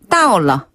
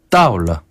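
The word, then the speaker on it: 到了: 그래서 뭐뭐 했습니다를 뜻하는 러를 붙여서 따올러. 따올러.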